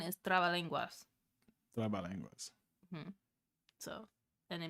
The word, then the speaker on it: trabalenguas: Trabalenguas. Okay, how do you pronounce it?